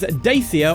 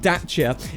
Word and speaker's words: Dacia: Renault now that's because daia or I should be calling it daa if I was to use the correct pronunciation uh for Romanian uh daa are owned